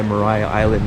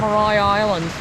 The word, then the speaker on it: Maria Island: Mariah sorry Mar Island it's spelled like Maria but it's pronounced Mariah Mariah Island Israel gine little chunks